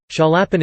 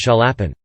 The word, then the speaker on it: Chaliapin: During the first phase of his career, Chaliapin endured direct competition from three other great basses: